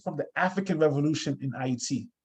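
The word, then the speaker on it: Ayiti: the african revolution in iet iet is the way we in haiti say it right so we say it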